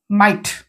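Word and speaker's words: might: ভুলভাল কর তারপর তারপরে কোন সাইলেন্ট কলে টি মাইট ওকে লেখিলা পম লিখিবে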